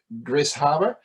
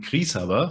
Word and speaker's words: Grishaber: way i see it gris harbor it's possibly wrong so tell me how do i pronounce your surname yeah thank you eric for having me my surname is pronounced uh in german krishava so we were actually